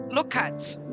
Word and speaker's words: Lukac: Did I pronounce that right? Lukac.